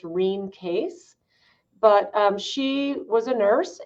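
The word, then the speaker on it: Rene Caisse: by this canadian nurse named renee casey or her name was actually pronounced rheem case but she was a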